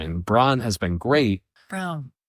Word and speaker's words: Braun: Brown. It's spelled like Braun, but it's pronounced Brown. Brown, thanks.